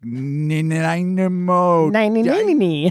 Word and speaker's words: Nanaimo: I can't even remember how I must have screwed up Nanaimo, like Nanaimo, Dynamo.